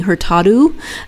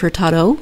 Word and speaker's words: Hurtado: And in Portuguese, when there's an O on the end of the word, it's pronounced as an O. And I kept catching myself, and I don't think I caught all of them, saying Hurtado instead of Hurtado.